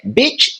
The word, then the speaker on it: bitch: no quadro, que é bitch e beat, tá? E aqui a diferença vai estar entre o I curto e o I longo.